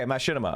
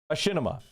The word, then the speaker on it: Machinima: Okay, Machinima. Okay, thank you. Thank you for the pronunciation guide. Machinima.